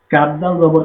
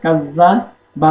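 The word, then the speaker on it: كذّب: কাজ জবর কাজ জবর কাজা বা জবরবা। কাজজাবা এখানে যদি কেউ পড়ে কাজাবা। কাজাবা পড়লে হবে না। এখানে আমাদেরকে শক্ত করে ধরে পড়তে হবে।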